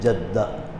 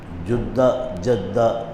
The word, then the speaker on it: جدہ: کو ہم کہتے ہیں جدہ، جدہ دونوں تلفظ ہیں۔ جدہ کہتے ہیں دادی